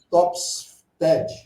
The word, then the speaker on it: Topfstedt: Está marcado aí Walter Alberto, mas eu estou tentando pronunciar o Topfest. É isso? Topfstead.